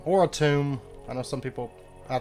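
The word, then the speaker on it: Atum: excited to get to adam or a tomb i know some people i think it's i think it's officially pronounced a tomb i will still be calling it adam um because i've just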